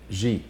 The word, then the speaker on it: Xi: I don't want to get the name wrong. Xi, right? Oh, President Xi.